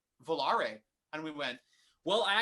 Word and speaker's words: Volare: Volare. It just rolls off the tongue for the, especially if you can roll your R's.